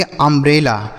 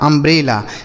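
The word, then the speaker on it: umbrella: यू एम बी आर E double L ए। तो इसे हम पढ़ेंगे अंब्रेला। क्या पढ़ेंगे मेरे भाई? इसे पढ़ा जाएगा अंब्रेला। तो यू का उच्चारण यहां पे हो रहा है आ के रूप में।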